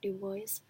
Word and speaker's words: Du Bois: wev Du Bois but he pronounces it Du Bois because he's American so I guess Du Bois we learned about that